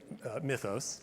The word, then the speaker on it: Mythos: And by the way, that is the correct way to pronounce it. I verified it with the top. Yeah, Mythos. Yes. Some people say Mythos and some Mythos, and that's definitely not correct.